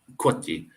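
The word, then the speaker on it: coati: And I don't know if you've seen my other videos there, Brene, with the Kwati, Kwati, Kwati, Cuito, Kwati, but it's pronounced Kwati.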